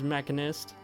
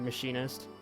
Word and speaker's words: machinist: My favorite job is mechanist, or machinist.